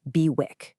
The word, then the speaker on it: BWIC: It's called a BWIC, pronounced Bwick.